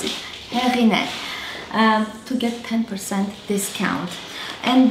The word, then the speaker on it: Heghineh: name many of you are asking how to pronounce it happiness to get 10% discount and then you can